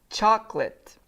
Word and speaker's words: chocolate: all right now candy chocolate and now I am going to stop here again because we need to talk about this pronunciation okay you're going to to say choc choc lit lit chocolate chocolate Okay chocolate uh I